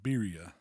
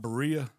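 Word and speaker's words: birria: been giving me hell it's beia beia so he said oh when I get this turkey col down I'm be a to roll the Mars and everything like I'm starting to work on it oh look at you yourbody said it's pronounced you got it it's not Berea Berea man in the South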